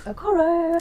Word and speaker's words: Okoro: Yeah, that is Aoro. Have I pronounced that correctly?